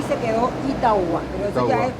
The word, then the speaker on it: Itauguá: y quedó como Itaúa. Con la U. La Y se reemplazó. Que hablando por la rápido, U. Itaúa. Sí, Itaúa.